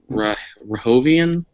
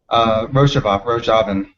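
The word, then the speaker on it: Rojava: by marginalized identities, the I'm sorry if I'm mispronouncing this, Ben. Rahovian. Uh, Sorry, if you want to unmute yourself and correct me. Rojavin. Rojavin, sorry.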